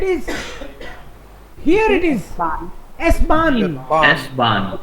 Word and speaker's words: S-Bahn: S-Bahn. H is silent because it's the only word. S-Bahn.